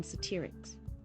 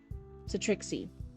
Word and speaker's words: Satrixy: Despite the high energy of the spaceport, Barry's eyes only landed on families of Exensians, humans, and even satirics. Satrixy, that's how you say it.